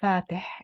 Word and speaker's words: Fateh: His name is Fatih. It ends with a ha. Aspirated.